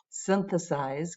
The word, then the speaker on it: synthesize: together we have synthesize synthesize and i'm listening for where to put the stress right synthesize gets it in the beginning toxic toxic phase only